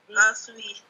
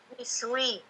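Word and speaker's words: اِسْوِ: Aswi. Iswi. Aswi atau iswi? Iswi. Iswi. Iswi. Kenapa iswi? Karena huruf ketiga kasroh. Naam. Karena huruf ketiganya kasroh, maka hamzah wasalnya dibaca kasroh.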